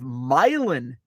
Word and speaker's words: Milan: We have Milan, Illinois, which is around the Quad Cities. I call it part of the Quad Cities. Milan, which is spelled the same as Milan. Also, not far from Milan,